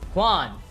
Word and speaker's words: Hwan: His father, Sung Il Hwan. Oh my, okay, I'm sick of this, bro. It's Hwan, H-W-A-N, not J-U-A-N. That's just like how you pronounce it.